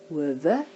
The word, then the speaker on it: hove: Baie hove, hove. Remember the silent E sound, there's only one W, making a twin vowel, long vowel sound for the O.